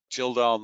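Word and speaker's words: Kjeldahl: Total phosphorus, total Gildal nitrogen, and I pause on that because it's spelled Kedjal, not Gildal, but so that's why it's TKN.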